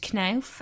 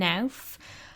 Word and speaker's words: Knauf: And I've heard his name pronounced Knauf and Nauf.